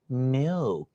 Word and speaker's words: milk: 來，這個詞你剛剛怎麼讀的 milk，你唔識捲脷㗎嘛？你真係嗱，你把後面這個 k 也是淡一點 milk，對 milk，很好，你現在保持住這個狀態，把所有教你的東西放回去再讀一遍好不好？